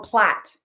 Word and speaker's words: plait: Wait, spell that again. PLAIT. Plate Plate. Okay, or plat.